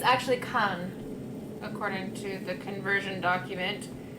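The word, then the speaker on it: Kaan: word is actually and okay kind it's actually khan according to the conversion document is that the pronunciation kinds piece is the first word is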